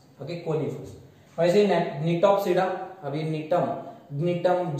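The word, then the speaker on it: Gnetum: वैसे नीटोप्सिडा, अभी नीटम, जी को साइलेंट रखो, जी को जोर से प्रोनाउंस मत करो, साइलेंट है.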